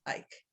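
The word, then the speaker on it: Eike: Ike was our last name, E-I-K-E, pronounced Ike.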